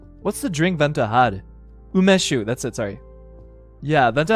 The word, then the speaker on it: umeshu: Umeshu.